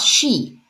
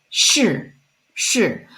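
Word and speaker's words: 是: it's Su and then the Shi is not she is so the Shi with four stone is not she it's sure so take a look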